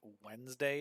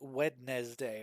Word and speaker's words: Wednesday: she was complaining about um the way that Wednesday is spelled and she was like, "Why is there why is it wedz day?